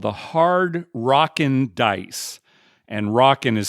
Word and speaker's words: Rock'n: all together these bets are called the hard rocken Dice and rocken is spelled r o c k apostrophe n Hard